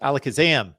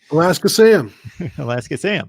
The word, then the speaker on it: Alakazam: Yes, Alakazam. Thank you. I think I mispronounced that the other week. I was like looking at it like it was Alaska something. Alaska Sam. Alaska Sam.